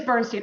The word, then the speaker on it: Bernstein: just submit her actually tell me how to say your last name Bernstein it is Bernstein okay I want to